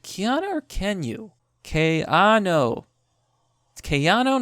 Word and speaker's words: Keanu: can you ki no Kayano not Keanu Keano kyon okay so it turns out it's kayano Keanu Reeves Keanu K